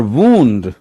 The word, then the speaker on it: wound: Spelling भी WOUND है, बट वहां पे प्रोनाउंसिएशन वाउंड और वाउंड हो जाता है। वाइंड, वाउंड, वाउंड, और वूंड, घाव लगना, वूंड, वूंडेड, वूंडेड।